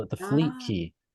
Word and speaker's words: Qi: call it the fleet key key is spelled Qi because we're redefining what a